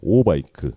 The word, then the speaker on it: 오바이크: 오바이크, OBIK. 이건 발음을 좀 잘해야 될 것 같습니다.